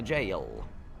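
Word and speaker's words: Gaol: though it's a g I will continue to pronounce it Gail but the jail uh he gave me his key for it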